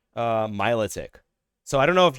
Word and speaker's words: Milotic: I always pronounce it melodic. I've always pronounced it melodic. I found that like 50% of the population literally calls it Milotic.